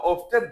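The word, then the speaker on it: often: এই তিনটা বাক্য হাউ ওপেন দিয়ে, হাউ ওপেন অথবা অফটেন দুইটাই উচ্চারণ করবেন।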